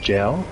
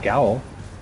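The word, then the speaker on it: gaol: Yeah, if you want people to say the word gel instead of gowl, then spell it correctly. Yeah. In America, gel is spelled J-A-I-L.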